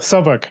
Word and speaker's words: Southwark: Sonny, like I said earlier on, is a Sotok Labour Party. Did I pronounce that well, Sotok? Yes, Southwark. Yeah, Southwark. Fee, like fee. You say, yeah.